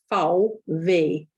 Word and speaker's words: VW: an f and actually vw as in the car manufacturer is foul v in german um so v is